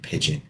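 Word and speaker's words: pidgin: New Guinea pigeon or melanesian pigeon like the bird not like the bird it sounds like the bird but it's spelled differently a pigeon language is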